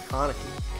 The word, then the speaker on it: Konecny: Travis Konecny. Konecny. I keep saying Konecny. Then I heard somebody say Konecny. Konecny. Look, I still can't even say it right, even though I heard somebody say it right.